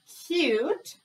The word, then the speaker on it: cute: e so we have cute u says its name silent e made a says